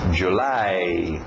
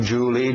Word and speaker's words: July: final April mayi June July nada de Julie Julie é o nome próprio escrito de outro jeito July a o u